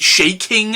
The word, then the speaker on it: Chaykin: graphic novel written by howard shaking i think is how you say his name and illustrated by gil